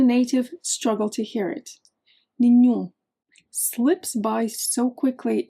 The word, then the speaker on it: nenhum: Normally the queen meaning the stressed syllable, the part you hear the most, is on the second to last syllable. So, you would expect something like nenhum, but that A gets swallowed. It's almost mute. The strong part is actually the end except the end is nasal.